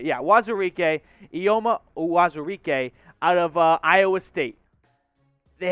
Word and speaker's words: Uwazurike: Ioma Uwazuke, the 4th round pick, and I just nailed that name pronunciation, by the way. Wazurike, what did I say? Yeah, Wazurike, Ioma Uwazurike out of Iowa State.